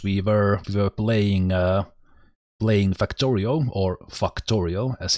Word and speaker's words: Factorio: So here in the videos we were playing Factorio, or Factorio as it's correctly pronounced.